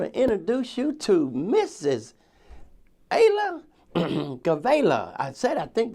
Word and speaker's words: Galeyeva: Ayla Galeyeva. Did I say it right? Almost. Almost. But she can say it right. It's Ayla Galeyeva.